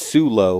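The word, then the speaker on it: Soulo: Solo. Is that how you say it? Solo? I think it's Sulo.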